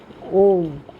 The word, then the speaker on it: Om: The first letter A is the root sound, the key, pronounced without touching any part of the tongue or palate. M represents the last sound in the series, being produced by the closed lip, and the U rolls from the very root to the end of the sounding board of the mouth.